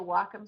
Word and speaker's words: Wacom: You know what makes me people mispronouncing Wacom. If you go to the Wacom site, it's they actually people who are on